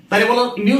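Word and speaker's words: μ: হয় এই কষেত্রে ধ্রুবকটাকে আমরা মিউ বলি বিড়ালের ডাকের টাইপের উচ্চারণ এই চিম্বলটা মিউ এইটা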